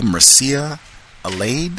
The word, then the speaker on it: Mircea Eliade: The author's name is, I think I'm pronouncing this correctly, Mircea Eliade.